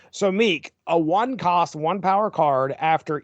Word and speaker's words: Miek: I called him Miek. Yeah, that's what I always called him, and that's what Thor and Korg call him in Ragnarok and Love and Thunder. So Miek, a 1-cost, 1-power card.